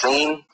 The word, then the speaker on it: Sin: ism is the moon god sin and it's pronounced scene uh but if you want to believe in seeing you go right ahead see and that's the